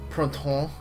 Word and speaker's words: Printemps: So, for example, if we're using Love Live, there are 3 subunits, BB, Lilywhite, and Printemps, which is how you actually pronounce that.